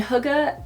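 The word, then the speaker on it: hygge: that i recently talked about huga and it's pronounced hookah even though it's spelled h-y-g-g-e and i said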